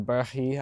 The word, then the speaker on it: Berg: The other disc I keep up here is my scramble or approach disc, the Berg uh or the Bærg, I think is how you're technically supposed to pronounce it, but it's Berg.